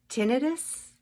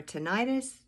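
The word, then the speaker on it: tinnitus: absolutely miraculous those first few days on carnivore tenus or tenius I see it pronounced both ways in my ears Gone Gone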